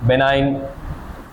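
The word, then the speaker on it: benign: Minute बात नहीं रुक जाओ क्वार्टर्न malaria oval बेनाइन tertian malaria ये इससे होने वाले मलेरिया के नाम है।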